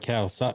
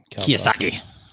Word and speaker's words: Kiyosaki: Robert Kawasaki. What is it? Robert Kawasaki? Am I pronouncing that right? Kiyosaki. Kawasaki is the motorcycle, I think.